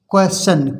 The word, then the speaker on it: question: जैसे क्वेश्चन QUESTION, अब देखिए इसमें TION आया है, ION आया है टी के बाद ION आया है और टी से पहले एस है तो इसको बोलेंगे, टी